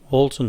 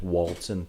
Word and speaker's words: Walton: one in ones and there's walton wal like walt disney yeah whereas this one is wool like a what you get off a sheep yeah but yet so